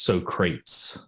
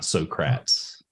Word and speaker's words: Socrates: hate to nitpick but the correct pronunciation is Socrates not srats oh farbe it for